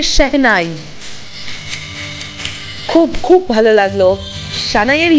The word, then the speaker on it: শেহনাই: ওয়াও, এটা শানাই, হ্যাঁ এটা শানাই ইউজ করা হচ্ছে, আমরা বাংলায় বলি শানাই, আর অরিজিনাল উচ্চারণটা হচ্ছে শেহনাই।